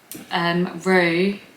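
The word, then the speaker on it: Roo: It's like he is literally Rue, and it's spelt so simply too.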